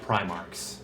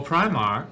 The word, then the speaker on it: Primarch: St tier are five primarch M love just need to go above the oh Primark five Primark like the store no no primar says like primar literally like the Pinnacle